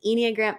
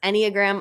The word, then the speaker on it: enneagram: were trying to say is it engram no it's enneagram according to both google